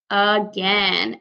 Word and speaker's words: again: Because this word actually makes a different sound at the beginning. The A sound we know normally says at or a, but in this case we hear a.